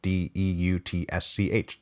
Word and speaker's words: Deutsch: named leif deutsch and i'm sure i'm mispronouncing that but that's his name d-e-u-t-s-c-h deutsch so i'm going to say deutsch deutsche was five years